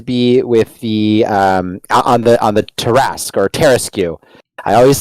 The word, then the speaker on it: Tarrasque: And that is going to be with the on the Tarrasque or Tarrasque. I always say it wrong. Tarrasque. Every time. No, it's Tarrasque.